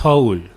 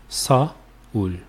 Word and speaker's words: Seoul: It's actually pronounced Seoul, 2 syllables, Seoul, Seoul.